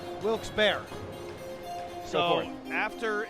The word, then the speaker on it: Wilkes-Barre: verdict is that it's Wilkes-Barre. They say that Devastating news. it's Wilkes-Barre. Some people pronounce it Wilkes-Barre. All incorrect pronunciations, because there was Wilkes, a gentleman named Wilkes, and a gentleman named Barry.